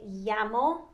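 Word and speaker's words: llamo: ya sound so me yamo but you don't necessarily have to you know pronounce the l in spanish it's more of a ya so okay um so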